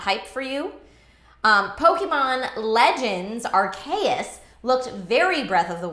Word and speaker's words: Arceus: Pokemon Legends Arceus looked very Breath of the Wild-like and is